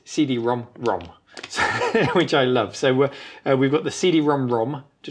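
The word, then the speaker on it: CD-ROM²: You actually pronounce this CD-ROM-ROM.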